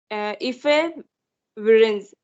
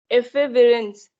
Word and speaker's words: efavirenz: ये 2 मेडिसिन आते हैं, ओके, नेविरिपाइन एंड इफेविरेंस। इसके जो मेडिसिन के जो प्रोनाउंसिएशन इट्स बीन टफ, सो इफेविरेंस, ठीक है, EFAVIRENZ, इफेविरेंस।